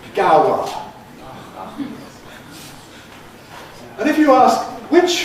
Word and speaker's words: Gower: And you get the answer, "It's in Gower Street." You have to be able to interpret that Gower means Gower.